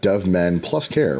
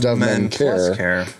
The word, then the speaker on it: Dove Men+Care: Dad 2.0 Summit and Dove Men+Care, which is how I found out. That's how you say it. It's not just Dove Men Care. It's Dove Men+Care.